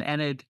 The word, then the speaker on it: Enid: his parents the two Idols about Durant and Enid is how it's pronounced reference Durant Balon and Balan reference King